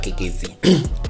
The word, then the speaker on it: Keketsi: This was Chaba Kekezi on, I pronounced the surname correctly.